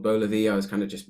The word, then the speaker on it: Beux Levi: How do you actually say it? It's BEUX LEVI. BEUX LEVI.